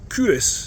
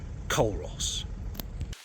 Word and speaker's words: Culross: village on a map, you'll not get there by writing it as I'm saying it. Curis is spelled c u l r o ss. And now you can act all superior when you correct somebody who calls it culos.